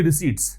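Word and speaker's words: receipt: है, as tradable security रिसीट्स। पहली बात तो इसका प्रोनाउंसिएशन ध्यान रखें, रिसीट होता है, रिसिप्ट नहीं होता, पीस का म्यूट रहता है।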